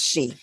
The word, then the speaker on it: sidhe: And that's actually spelled several different ways as well, depending on what dialect, Sidhe. But yes, it's pronounced she.